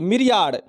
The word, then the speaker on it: myriad: अगली मीनिंग है मिरियाड, MYRIAD, मिरियाड, मिरियाड, मिरियड। अगली मीनिंग है मिरियड। अब देखेंगे इसका उच्चारण रहेगा मिरियड, लेकिन हमको मिरियड पढ़ना ही नहीं है, हमको क्या लिखना है?